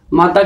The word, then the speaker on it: मातृ: इसका उच्चारण कैसे होता है? री की तरह होता है, ठीक है, री की तरह इसका उच्चारण होता है।